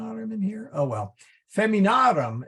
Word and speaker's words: feminarum: in here oh well feminarum is f-e-m-i-n-a-r-u-m and that a in the aurum is long so the accent then goes on the a so um I don't